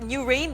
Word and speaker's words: NUWHRAIN: allied industries or new rain Good evening sir new rain ba Iyung pronounciation nw h r a i n Good